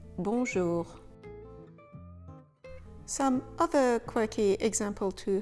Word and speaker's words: bonjour: Remember, you should never pronounce the consonant in this nasal sound. We never say bonjour, we say bonjour.